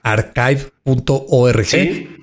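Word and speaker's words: arXiv.org: no se haya metido, se escribe ar x i b de vaca o v, como le dicen, ¿no? El el en vez de ch está sustituido por una X, ¿no?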